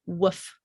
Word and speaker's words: woof: Like a dog goes, well, we don't say woof, we actually say woof. It's shorter.